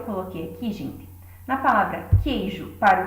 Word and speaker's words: queijo: Então, nós vamos ter o queijo. Reparem que a letra Q é como se ela estivesse sozinha. O U não é pronunciado.